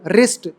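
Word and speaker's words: wrist: है वैसे ही रंगल रिस्ट राइट रंग रिंग राउट रिंकल रथ रैप रैप रच मतलब सब में देख लो जहां डब्लू आर से पहले आ रहा है डब्लू इज साइलेंट ठीक है प्ले राइट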